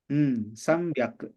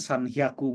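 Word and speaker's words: さんびゃく: Nah, ini cara bacanya beda. Ya. Normalnya kita nyebutin sanhyaku mungkin ya, atau rokuhyaku, atau hachihyaku gitu ya. Tapi enggak. 3 ini cara bacanya dia ingin beda sendiri. Ya, jadi agak hati-hati untuk 3 angka ini.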